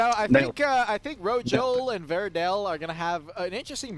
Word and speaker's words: Verde: It's Abyssal, Rojo, and Verde. So it's all good. Well, it's okay. It's okay. Don't worry about it. Verdell. That was an L.